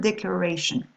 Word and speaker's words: declaration: For example, if I take the word declaration, you've got the suffix ian here, as you can see. So the stress is just before it.